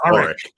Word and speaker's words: Warwick: And I love saying Warwick because a lot of people pronounce the W, but you're not supposed to. Or the second W, because if you don't pronounce the first W, it's Warwick.